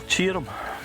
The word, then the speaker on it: Tioram: Castle Cheerum. Castle Tioram. What a cracking name, isn't it? Aye, but it's not spelled like Cheerum. No, it's not. It's a bizarre name. T-I-O-R-A-M.